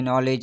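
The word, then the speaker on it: knee: अब मैंने कुछ वर्ड्स लिखे हैं जैसे कि नॉलेज, नाइफ, नॉक, नी। अब ये सारे जो हैं देखें, एन से पहले जो है के आ रहा है तो के क्या है, साइलेंट है।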